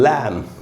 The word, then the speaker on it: lamb: उसके बाद दोस्तों लैम, LAMB, लैम। लैम का मतलब होता है मेमना, बकरी का बच्चा या भेड़ का बच्चा। बी एंड में दोस्तों एम के बाद है, साइलेंट होगा, तो हम एम तक ही पढ़ेंगे, लैम।